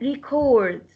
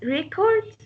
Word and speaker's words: record: the word record and record if we pronounce it record so it's a noun so the stress will go on the first syllable and the same writing